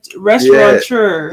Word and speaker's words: restaurateur: No, I'm not saying it's pronounced like amateur, but that last chur. No, I'm not knocking. I'm just saying though, like, man, but it's not chur. It's restaurateur.